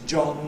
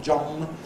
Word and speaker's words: John: and wing, and that my name is John and it is not John.